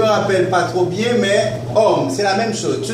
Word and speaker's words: homme: pas trop bien mais homme, c'est la même chose. Tu ne vas pas dire ma ça va être mon à cause du h c'est comme si la h ne se prononce pas.